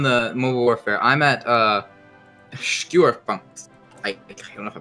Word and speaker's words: Schwerpunkt: I'm at Schwerpunkt. I don't know if I pronounced that right. Oh, you mean the... Oh, Schwerpunkt.